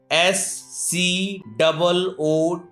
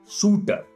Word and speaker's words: scooter: Whenever we write scooter, SCOOTER, in that condition C is not silent and we read scooter, not shooter.